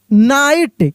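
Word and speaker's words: knight: नाइट, KNIGST के नाइट यानी के साइलेंट है, नाइट।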